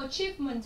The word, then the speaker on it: achievement: Thì cô giáo cho cái từ achievement ấy, thì đây là từ này là trọng âm 2.